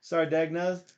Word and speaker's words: Sardegna: um no drama John says like lasagna s so so sarden so be sure to check out sarda sardegna however it is easiest